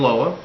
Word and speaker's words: Loa: I am your host, Loa. Loa is spelled L-O-A and pronounced Lo-A.